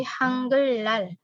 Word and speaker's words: 한글날: Bacanya bukan 한글날, tapi 한글날. Jadi dibaca R keduanya.